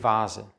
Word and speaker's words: Vase: in 95 prozent der fälle wird das wwf ausgesprochen der vogel der vater der volkswagen aber die vase es gibt ausnahmen der 23 stapel ist das